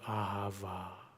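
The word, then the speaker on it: אהבה: your mind's eye in in english you would spell it a h a v a a ha va it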